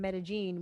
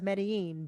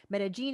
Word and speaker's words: Medellín: So 7.7 is our number, the boy from Medellín, which is how they pronounce it in the movie. I always thought it was Medellín, but Medellín is how they say it in the film.